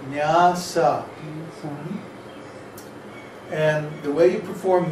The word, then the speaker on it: nyasa: After you do your tilak and achama, then it's called nyasa, N-Y-A-S-A. No, it's spelled nyasa, with two long A's.